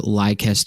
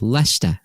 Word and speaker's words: Leicester: platform in London and I was trying to get to Lester square and I asked this lady can I get to Li square and she goes ler and I was like oh right yeah sorry that one very hard for Americans to pronounce no don't don't feel